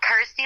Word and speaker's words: Kirsty: obviously it helps that it's you know rhymes with my name and helps people pronounce my name correctly so I'm like cool Kirsty like thirsty got ity like thirsty